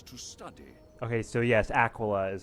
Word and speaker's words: Aquila: my favorite Empires to study okay so yes Aquila is how you pronounce it unlike other provincial tournaments this is